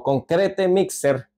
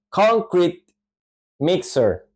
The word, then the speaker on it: concrete mixer: concr mixer conc mixer en ambas palabras la sílaba tónica la acentuación iría al principio ahí tenemos que subir